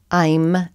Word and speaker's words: Aim: sweetest story so this chant to Saraswati is Om I'm Saraswati I'm is the seed syllable for Saraswati also is a counterpart om